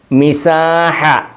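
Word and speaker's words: مساحة: മിസാഹ, മിസാഹ നീള അളവ്. മിസാഹ തീർന്നു കൊടുത്തപ്പോൾ ഉണ്ട്, താന് ഉച്ചാരണമില്ല, ഞാൻ കൊടുത്തതന്നേ ഉള്ളൂ. മിസാഹത്തുൻ ആണ്. ഇത് ചിലർ ഇതിനെ സുക്കും കൊടുത്ത് ഉപയോഗിക്കാറുണ്ട്, പക്ഷേ എന്നാലും താന് ഉച്ചാരണമില്ല.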